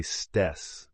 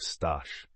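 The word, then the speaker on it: Staś: But he was never able to make her pronounce his name correctly. She would always say stess instead of stash and this often caused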